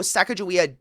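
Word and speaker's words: Sacajawea: They were like, "Oh, Saka Jouia definitely that's how you say it, by the way."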